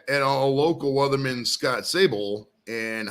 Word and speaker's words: Savol: And some people say my name and they say Savol instead of Savol, It's oh, the weather guy.